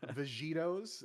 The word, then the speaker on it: Vegitos: name up against Team Vegitos. It pronounced like your favorite cartoon character, but spelled completely differently.